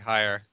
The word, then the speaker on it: Haier: it's some company named Hayer or Hayer something. HAIER. Yes, three straight vowels. I don't know how to pronounce it. Sounds like higher.